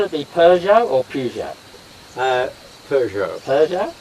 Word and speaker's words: Peugeot: Peugeot. Peugeot? The French pronounce it Peugeot.